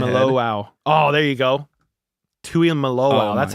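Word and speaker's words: Tuimoloau: Tui Malo.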